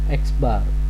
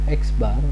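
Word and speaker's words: x̄: Penggunaan rata-rata hitung untuk sampel bersimbol dengan X bar ya. Ini bacanya adalah X bar, di mana ada nilai X, terus di atas nilai X diberikan tanda garis ya.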